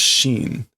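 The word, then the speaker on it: 針: How is the hari for needle? What's the on reading? It is Shin.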